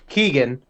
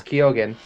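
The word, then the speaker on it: Keoghan: by Barry kogan yeah we've been saying his name wrong we've saying it Keegan it's kogan um and I mean he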